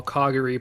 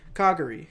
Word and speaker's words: Kagari: And as they go towards the elevators, it shoots us over to Kagari. Did I say that right? Yes, you know. Kagari.